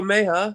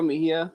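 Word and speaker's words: Mejía: no one on okay francisco meja i don't think that's how you pronounce his name yeah francisco mejia yeah mejia okay i'm sorry well first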